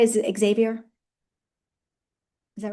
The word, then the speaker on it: Xavier: say, you know, by the way, am I pronouncing right? Is it Xavier?